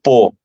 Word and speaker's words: Pau: Eu desci de um trem e fiquei 4 horas numa cidade que eu pesquisei tudo, que se escreve Pau, P-A ou Pau, mas se lê Pô.